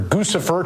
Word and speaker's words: Guccifer: I think it should be Gucci. Guccifer, like the shoes.